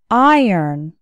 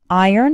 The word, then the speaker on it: iron: And the second syllable actually sounds like earn. Iron. Iron has two syllables and the stress is on the first syllable.